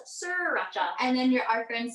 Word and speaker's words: sriracha: I only found out recently that it's spelled SR. Sriracha. Yeah. I thought it was sriracha.